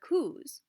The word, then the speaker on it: coup: and we see a lot of kuretas or kus is what they're pronounced as more americanized term there is the coup and that is where you have different militarized